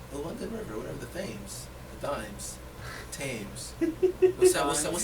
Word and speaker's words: Thames: THAMES. That's Thames. That's why I thought Thames for short, but I believe your pronunciation though.